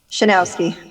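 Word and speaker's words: Chrzanowski: me yes c-h-r z-a-n-o-w-s-k-i and now pronounce it shinowski it looks worse than it sounds that's not bad i'm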